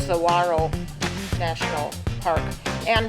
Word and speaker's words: Saguaro: where it's um i thought it was called saguaro but it's actually pronounced saguaro national park and it's one of the very